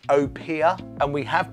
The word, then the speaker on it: Opihr: European Edition London dry gin now this is pronounced Opia and we have pronounced it ofia in the past we were wrong there you